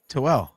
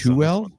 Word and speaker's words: Tooele: Figure out how this one's pronounced. T as in Tom. OOELE. Toel. What about you, AJ? Something similar. Kale's got us. Tuel? Tooele. Sure.